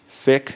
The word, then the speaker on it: Sikh: sick term we use so s i k h sick that's the pronunciation so I'm speaking to